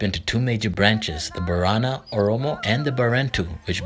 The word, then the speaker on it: Borana: Borana is pronounced Boran, with the final vowel being silent, and refers to the people of their language and also means friend or kind person.